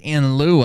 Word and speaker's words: in lieu: in lieu of when you're using the phrase in lieu of or in Lou it is l-i-e-u -l-i-e-u